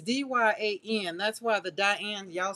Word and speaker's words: Dyan: So it's Diane Reevely. You're right, Julie Parker. It's just that it's spelled D-Y.